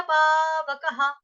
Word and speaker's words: पावकः: विसर्ग, विसर्ग, क के बाद विसर्ग आ गया तो यहाँ पे उच्चारण होगा ह, ह। ना तद भासयते सूर्यो, ना शशांको, न पावकः, पावकः, पावकः।